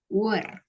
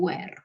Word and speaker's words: were: Were, bukan where.